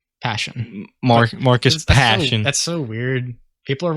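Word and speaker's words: Persson: someone asked him that the pronunciation is closer to passion but i imagine that's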